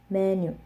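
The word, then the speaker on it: 메뉴: the syllables themselves, because in English we speak with we stress syllables. So for example, menu, menu, menu. The two syllables don't have the same stress. They're not equal. But in Korean, they they do not stress syllables. So it should be menu, menu. They should both have the same emphasis and the same like speed, which I don't express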